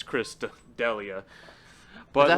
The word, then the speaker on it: D'Elia: if there's someone being focused on right now, it's Chris D'Elia. Is But that how you like, say his name? Shots fired. I have no. It's D'Elia, guys. It's D'Elia.